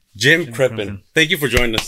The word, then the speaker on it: Crippen: name again I'm sorry I'm horrible um at pronouncing names and I don't want to mess it up Jim krippin Jim krippin thank you for joining us today thank you